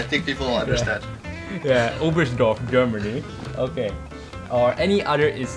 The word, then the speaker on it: Oberstdorf: how do you pronounce the place? Oberstdorf, is it? The German? Oberstdorf.